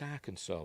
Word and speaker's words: Arkansas: Why is it pronounced Arkansas? It's got an S at the end.